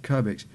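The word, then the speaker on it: Kirbix: out to curbex 50 which is k-i-r-b-i-x the number 50. i think that's how you pronounce it kerbex but he's from finland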